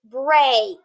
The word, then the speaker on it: break: actually going to swap this e is silent and the a is long this word is a break i need a break